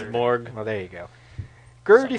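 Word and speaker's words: Snejbjerg: Garth Ennis and Peter Snedberg, covered by Glenn Fabry. This is cover dated March '98. The J is like an E sound, Oh, like you pronounce it. Sneborg.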